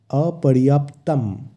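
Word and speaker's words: অপর্যাপ্তং: অনক্ষর থাকে সংস্কৃতে সেই অনরের জায়গায় ম এর উচ্চারণ হয় তাই এক্ষেত্রে হবে অপর্যাপ্তম এই শব্দটির অর্থ অপরিমেয় যা মাপা যায় না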